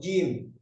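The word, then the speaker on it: جيم: Yang pertama huruf jim. Jim ini tengah-tengah lidah nempel, ya, nempel langit-langit atas. Kalau diucapkan jim. Kalau berharokat fathah ja, ja, ya, tengah-tengah lidah, bukan ujung lidah.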